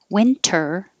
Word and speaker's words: winter: interview interview printer printer winter winner and if you say winter without the t yes it will sound like winner not loser but winner and you would know by